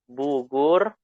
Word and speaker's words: Bogor: Karena bahasa Arab tidak ada O ya. Jadi bacanya Bugur.